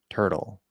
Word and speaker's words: turtle: a perfect example because what happens to a t when it's at the start of an unstressed syllable or a d same thing with t and D when it's at the start of an unstressed syllable and it's between two vowel sounds it flaps Turtle we get that flap D turtle turtle okay now of